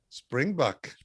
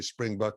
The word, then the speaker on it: springbok: that African uh animal Springbok springbuk springb springb well the is the way they pronounce it we would say spring buck in America okay okay so that's